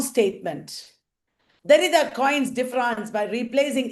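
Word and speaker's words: différance: Derrida coins differance by replacing E in the French word difference with an A. Sounds right. Difference and differance, same pronunciation in French.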